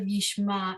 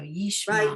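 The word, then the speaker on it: ישמע: Yishmai So But, the oh, ayin at the end of Yishma is completely silent. So Yishma.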